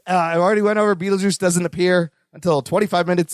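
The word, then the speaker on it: Betelgeuse: just for the title it was it's easier phonetically to say Beetle Juice with the juice but like it's really spelled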